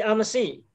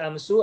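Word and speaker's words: أمس: Sama dengan amsi, tetap dibaca amsi, tidak dibaca amsu atau amsa.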